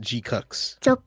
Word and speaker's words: GQuuuuuuX: all right this is the trailer and it's pronounced gcks is my yeah